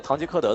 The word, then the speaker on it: 唐吉诃德: time you played in Man of La Mancha 《唐吉诃德》 Man of La Mancha (Dalong corrected the pronunciation for the host, which is Tang Ji